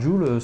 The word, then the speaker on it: Jewell: Non, Mais- c'est la même prononciation que en fait bijou en anglais, c'est Jewel.